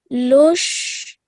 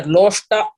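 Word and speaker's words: लोष्ट: Sama looks equally loshtra. Loष्टाश्मकाञ्चनः. See, it all split here. Loshta, not loshtra.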